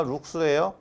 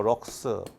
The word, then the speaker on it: 룩스: 자, 조도는 단위가 룩스예요.